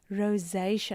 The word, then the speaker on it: rosacea: Rosaceia. So, you can actually pronounce it as if you want to say the word rose and then just give it a bit of a jennaqua look and feel to it.